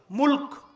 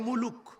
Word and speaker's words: মুলক: মুলক মনে থাকবে না? আর যদি আপনারা ওইভাবে বলেন বাংলা ভাষায় মুলুক বলে না, রাগ করতেছেন? মুলুক, মুলুক। আর সঠিক উচ্চারণ করতে হলে কিভাবে? মুলক।